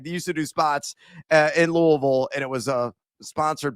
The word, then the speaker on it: Louisville: It's not Lewisville, America, it's Louisville.